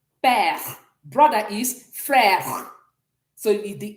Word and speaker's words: père: Father in French is père. Père. Exactement. So you can see the E is sounding like père. Père. Mother is mère. Mère. So the E is also soft. Mère. Père.